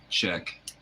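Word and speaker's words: Chiek: surgeon in Atlanta and his name is Czech but it's spelled c h IE K and his last name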